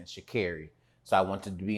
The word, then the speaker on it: Sha'Carri: So I also want to really quickly put in, I also mispronounced her name. It's not Sha'Carri Richardson, Sha'Carri.